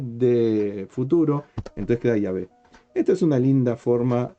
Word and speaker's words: Yahvé: Si en el grafema IHBH intercalamos la primera vocal del tiempo pasado y la última del futuro, nos quedará Yahvé. Finalmente leemos Yahvé.